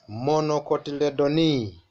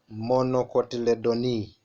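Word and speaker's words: Monocotyledonae: in this fighter grass monocotyledon e let's pronounce together grass monocotyledon e and then the other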